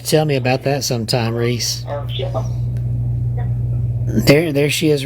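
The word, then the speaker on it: Rhys: You got to tell me about that sometime, Reese. There she is right there, DA. Her name is spelled R-H-Y-S, Reese87.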